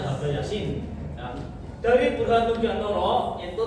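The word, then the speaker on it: H.B. Jassin: Bacanya Habe Yasin.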